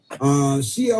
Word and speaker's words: Cea: Her first name is spelled CEA. CEA. And that like a government organization abbreviation or something. And when she leaves, do people say, Sia? Sia Weaver is her name.